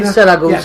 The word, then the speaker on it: Siracusa: Taormina, Siracusa, You said it right, Siracusa.